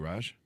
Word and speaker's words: Raj: Greater Heights welcome the show how are you Raj thanks Chris thank you for having me thank